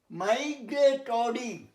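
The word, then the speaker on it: migratory: মাইগ্রেটরি, এখানে টরি হবে, ট্রি হবে না।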